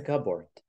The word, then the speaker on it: cupboard: your clothes it's a cupboard cupboards yeah we won't read the p p we can't we don't pronounce it okay e no p you don't say p it's the same like